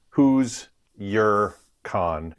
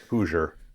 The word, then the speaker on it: Hoosier Con: So who's your con, not Hoosier. Gotcha. But yes, it's a play on the pronunciation.